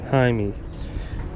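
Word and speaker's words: Jaime: that's it what's your name how do you spell it uh Jai me j a i m e hi me I hit him with the photo smack got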